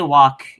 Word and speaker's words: walk: Like, not when people say walk, they usually don't go out of their way to pronounce the L, like walk. They say walk.